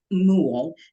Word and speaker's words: Moole: One with the hat on is Frank Moole, rhymes with pool.